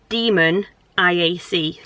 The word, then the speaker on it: demoniac: first heard about it i thought it was demonic but it's spelt demon iac like demoniac so i don't know